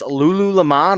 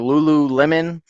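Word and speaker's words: Lululemon: men's uh shorts uh the brand is Lulu leemon or Lulu Lemon people pronounce it different ways uh but this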